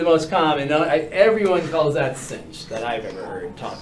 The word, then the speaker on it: sinh: So, but that's, most of the time you're going to hear cinch, tanch.